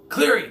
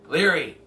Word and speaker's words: Leary: Cleary. Dennis Cleary. God. Name every Dennis in the book. Dennis Cleary. Cleary? Is that... Am I saying his name right? Leary.